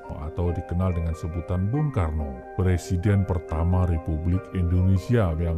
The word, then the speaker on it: Soekarno: barat Yudha yaitu Karna nama Karna menjadi Karno karena dalam bahasa Jawa huruf a berubah menjadi o dibaca o sedangkan awalan su memiliki arti baik di kelak kemudian hari ketika menjadi presiden ejaan nama Soekarno diganti olehnya sendiri menjadi Soekarno o e = u karena menurutnya nama tersebut menggunakan ejaan penjajah Belanda masih tentang nama di